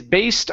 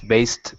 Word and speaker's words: based: instead of based okay Ed ending this sounds like a t is based on a famous novel okay the the play is based on a famous a